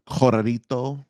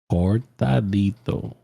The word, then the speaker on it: cortadito: Corrito. A what? Am I saying it wrong? Say it one more time. Corrito. No, there's a T in there. Try it again. Corrito. Cortadito. Cortadito. Nice.